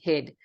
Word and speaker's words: he'd: examples it is he it is pronounced heed when it's by itself but most of the time we will be saying hid hid just a fat